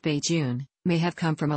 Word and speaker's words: Bajan: The term Bajun, pronounced Bajun, may have come from a localized pronunciation of